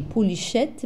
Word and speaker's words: polychète: Donc, vous voyez que ça s'écrit polychète, mais ça se lit polychète.